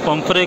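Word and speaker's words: pomfret: अच्छा, इसको इंग्लिश में पम्फ्रे कहते हैं, बहुत सारे लोग पम्फ्रेट कहते हैं, मेरे ख्याल में टी इसमें साइलेंट होता है।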